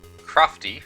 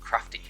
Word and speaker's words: Crofty: So in this case, Crofty, her last name, is the way that's pronounced. Of course, to an English person that can look like crafty, the word, but no, Crofty.